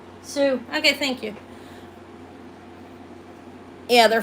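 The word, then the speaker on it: Sioux: How's it pronounced? Sue.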